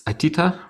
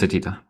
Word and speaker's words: Atita: It's Atita, right?